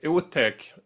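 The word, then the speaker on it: otäck: But thing is, Utech, not spelled like that, but pronounced like that in Swedish, means scary.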